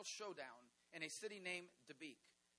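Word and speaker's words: Dabiq: a city named Deek I have to be careful how I pronounce that because one time it sounded like debuk and people freaked out and I said no no no no no not not debuk debuk Deek d a b IQ it's a true City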